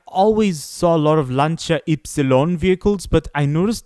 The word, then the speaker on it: Lancia: I really like the Lanchaon. Actually, that's how it's supposed to be pronounced, guys. The real Italian pronunciation of the Lanchia brand is actually Lancha. Lancha. I I used to say Lancia because that's I don't know.